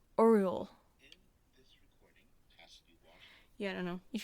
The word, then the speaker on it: Orual: Oral. O like an orange, not like own. Ru as like rue, or ol like bull.